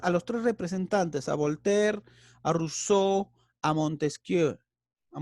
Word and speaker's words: Voltaire: Empezamos con, por ejemplo, con Voltaire, escrito como Voltaire. ¿Ya? Cuidado con eso. Pero se pronuncia Voltaire.